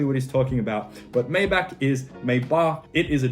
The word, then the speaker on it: Maybach: after looking into it maybach is a german brand and therefore needs to be pronounced mayba kind of like an open h sound very soft h maybe now if you